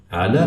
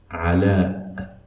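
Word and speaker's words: علاء: Ala has Hamza at the end of it, which should be pronounced as a glottal stop. I'll pronounce it again. Ala.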